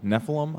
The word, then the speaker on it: Nephilim: we go ahead and introduce everyone to Nephilim Nephilim I'm pronouncing that correctly yes what did you guys